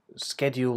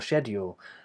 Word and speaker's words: schedule: person was asking about whether it's SK or she um so schedule or schedule and the difference really is